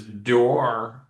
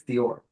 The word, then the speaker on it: Dior: just be custom because it's Dior door. Is that how you say it? Dior door. Sure. That's how you can say it, John. Yeah. How do you say it though? Did I say it wrong? I I believe it's Dior.